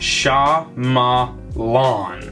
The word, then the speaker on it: Shyamalan: know surname is pronounced sha ma lawn m9 shyamalan okay so